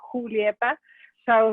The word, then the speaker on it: Julieta: expect everyone to know that it's not a Julieta, but it's a Julieta.